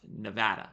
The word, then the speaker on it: Nevada: I'm sorry folks someone recently told me it's pronounced Nevada not Nevada Clark County Nevada we can see there's 5600 homes for sale